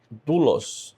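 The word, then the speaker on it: δοῦλος: se pronunciar o ah pronúncia desse ditongo aqui é diferente, tá? Ela é u, vamos na palavra dulos. A gente vai ver mais paraa frente essa palavra. Eh, vou colocar aqui eh a palavra dulos, escravo ou servo. A pronúncia de desse titongo é o dulos, tá?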